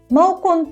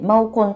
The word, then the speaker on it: 猫空: マオコンって猫に空って書いてマオコンと読むんですけ